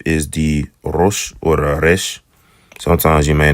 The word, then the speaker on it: resh: Yeah, it's a trill sound.